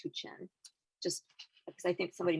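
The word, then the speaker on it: Huichin: to also say that it's pronounced too chen h-u-i-c-h-i-n is pronounced hu chen just because i think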